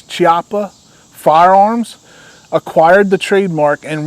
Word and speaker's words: Chiappa: doors in 2017 and I believe it's pronounced this Choppa chiapa I think it's chiapa Firearms acquired the trademark